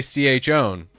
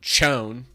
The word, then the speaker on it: chown: How do you say ch own? Ch own. You don't call it chone.